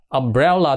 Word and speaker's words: umbrella: cái dù đ chưa umbrella thì khi đó chữ này cũng bắt đầu bằng cái chữ letter là u Đúng chưa chữ u đó nhưng mà phát âm của nó ký tự phiên âm đ đỏ đó thì nó lại là gì Là cái chữ về ngược phát âm đó cái âm V ngược đó là nửa á nửa ớ Đó là một nguyên